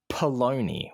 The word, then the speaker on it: polony: here in West Australia we call it polony which rhymes with bologna polony p-o-l-o-n-y other other